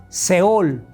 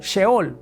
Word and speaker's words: sheol: Se dice seol. Seol o sheol.